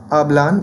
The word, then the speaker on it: hablan: Okay, so following this rule, they speak will be pronounced as hablan with the stress placed clearly on the penultimate syllable.